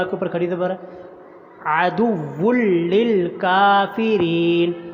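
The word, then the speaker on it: عَدُوٌّ لِّلْكَافِرِينَ: اوپر کھڑی زبر ہے۔ عدو للکافرین، یہ بھی لفظ مشق کے قابل ہے، اچھی طرح سنیے، سمجھیں، مشق کریں، مجہول نہیں پڑھنا اس کو۔ عدو للکافرین، کاف کو لمبا کرنا، کاف کے اوپر کھڑی زبر ہے اور را کے نیچے زیر آگے یا آ رہی ہے تو را کو بھی لمبا کرنا ہے۔ وَلَقَدْ أَنزَلْنَا، انزلنا کے نون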